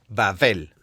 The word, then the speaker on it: Babel: Bueno, se escribe con una letra hebrea B o Bet, pero en ciertas formas de pronunciación se dice como una V corta y no como una B larga. Babel.